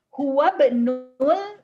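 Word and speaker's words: هو ابن: Huwa benul mudarrisati. Huwa benul mudarrisati. Ingat karena kata ibnu itu merupakan diawali hamzah wasol. Jadi dibacanya huwa benul mudarrisati.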